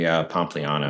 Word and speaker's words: Pompliano: Anthony Pompliano.